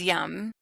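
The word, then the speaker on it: यं: It's yum. Okay. And I think you could just repeat that over and over. Yeah. So it's YAM. It looks like yam, but you pronounce it yum, like yummy.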